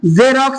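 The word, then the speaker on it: Xerox: ಏನು ವಿದ್ಯಾರ್ಥಿಗಳೇ ಜೆರಾಕ್ಸ್ ಜೆರಾಕ್ಸ್ ಇಲ್ಲಿ ಕೂಡ ಜ ಎಂದು ಉಚ್ಚಾರಣ ಆಗ್ತಾ ಇದೆ ವಿದ್ಯಾರ್ಥಿಗಳೇ ಜ ಎಂದು ಉಚ್ಚಾರಣೆ ಆಗ್ತಾ ಇದೆ ಯಾಕೆ x ನಂತರ ಏನು ಬರ್ತಾ ಇದೆ ನಮಗೆ ಗೆ ಈ ಬರ್ತಾ ಇದೆ ವಿದ್ಯಾರ್ಥಿಗಳೇ x ನಂತರ ಏನು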